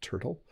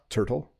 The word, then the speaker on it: turtle: pronounce my words like I just said Turtle but if I was speaking I would say turtle right the the T makes more of a D sound unique again a word